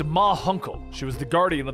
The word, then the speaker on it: Ma Hunkle: Guardian told her that it was Munkle. The Guardian suddenly appears, and around the corner, the aging members of the Justice Society of America step into view. It's pronounced Ma Hunkle.